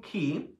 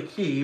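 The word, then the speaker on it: Cay: first is Half Moon key or we say k key but it's really key but everyone kind of says K cuz it looks like K but it's key halfon key and owned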